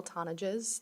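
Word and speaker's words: Tonnigs: have good afternoon my name is tones that's spelled n o e l t o n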